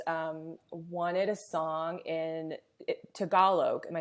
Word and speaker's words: Tagalog: wanted a song in tagalog am i saying that right deborah lee tagalog yeah oh gee yeah a lot of americans say tagalog but together see i want to say it right and my husband said